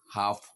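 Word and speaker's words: half: অথবা এল কে থাকে তাহলে আমরা এই এল উচ্চারণ করবো না ফর এক্সাম্পল আমন্ড কাঠ বাদাম আমন্ড কাঠ বাদাম কাফ বাছুর এরকম হাফ অর্ধেক ওয়াক দেখুন এখানে এল এম একসাথে আছে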